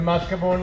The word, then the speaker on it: mascarpone: Then the cheese, the mascarpone. How is it pronounced?